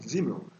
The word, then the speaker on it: Simmel: Então, tem uma frase do Simmel, se escreve com S, mas fala com Z, Simmel.